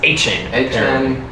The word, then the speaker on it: Etienne: Is it It's Etienne.